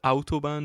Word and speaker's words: Autobahn: can listen to uh was it autobahn is that how you would pronounce it properly yeah in german yeah and you listen